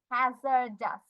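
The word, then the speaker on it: hazardous: একটা জিনিস খেয়াল করছি ও ইউ এস এটার উচ্চারণ আস এখানে দেখো ও ইউ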